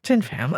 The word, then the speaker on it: Thien Pham: You told me how to say it and I said it wrong. You still said it right. All right. You said it right. Thien Pham is perfect. Thien Pham.